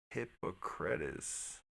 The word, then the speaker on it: Hippocrates: All the pronunciations I was looking at said Hippocrates, Hippocrates, Hippocrates.